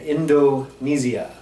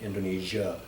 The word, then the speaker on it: Indonesia: In Indonesia, they really enunciate and they don't compress the end like Americans, even myself. I quite often will pronounce it Indonesia. So again, you'll hear the locals Indonesia. They'll pronounce every syllable.